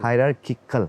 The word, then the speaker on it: hierarchical: based on herar hierarchal how is it pronounced hierarchal hierarchical okay hierarchical I mean the students